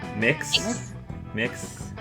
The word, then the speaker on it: Mx: actually don't know what how do you pronounce that mix mix Belladonna I was expecting